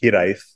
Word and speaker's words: Hiraeth: And this idea of Hiraeth, it's actually pronounced Hiraeth, kind of came across our plate really early on.